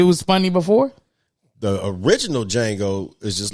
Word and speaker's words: Django: watch that movie it's django the d is silent oh django yeah i